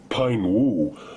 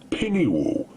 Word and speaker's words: Pine-Woo: part of the course not as the phonetically correct Pine-Woo, but rather the bastardized pronunciation of Pinny-Woo, an appellation that now has been indoctrinated into bike race lore.